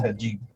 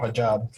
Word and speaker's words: hijab: That's a hijab or hijab, however you want to pronounce it.